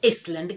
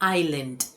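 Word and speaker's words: island: इस वर्ड को क्या हम इसलैंड कहते हैं? नहीं ये इसलैंड नहीं है। ये है आइलैंड। आई लैंड।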